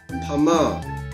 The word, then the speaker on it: Myanmar: 所以缅甸人泰语就是 Pama。